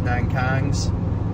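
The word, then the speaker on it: Nokian: just because I had some wear on those nine Kongs that's how you say it and just make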